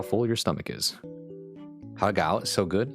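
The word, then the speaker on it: 蝦餃: Hagao is so good. Yeah, hagao. I forgot that's how you say it in Chinese.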